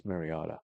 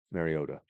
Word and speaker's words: Mariota: So Marcus Mariotta Mariota I would say his name.